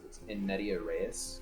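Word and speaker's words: in medias res: the game in mid ah it's pronounced in media reyes it's a greek hey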